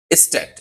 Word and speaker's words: Stadt: জার্মানিতে নগরকে কি বলা হয়? স্ট্যাট। এস এই বানানটা হবে STADT, বানানটা হবে এমন।